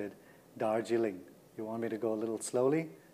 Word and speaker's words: Darjeeling: So you want to know how to pronounce Dargiling? Well, there I just said it. Dargiling.